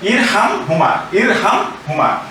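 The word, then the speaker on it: ارْحَمْهُمَا: কিন্তু আমরা সিঙ্গেল অর্থাৎ এককভাবে যদি উচ্চারণ করতে চাই তাহলে কিন্তু আবার এই হামজার নিচে জের দিতে হবে। এর নিচে জের ছিল, এখানে জের দিতে হবে, তাহলে হবে ইরহাম হুমা।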